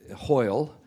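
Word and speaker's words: hwyl: uh in Welsh um hoil is uh is you know high and also goodbye but I want to tell you how it's spelled it's spelled h w y l hoil okay now this is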